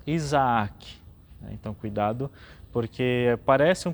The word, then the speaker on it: Isaque: Isaque tem duas vezes a letra A também, então nós pronunciamos Isaac.